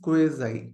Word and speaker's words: quasi: First is क्वाजी contracts. ठीक है, और उसका actual pronunciation is क्वेजाई, क्वेजाई contracts. Okay, चलिए देन उसके बाद लेंगे कंटिंजेंट कॉन्ट्रैक्ट्स.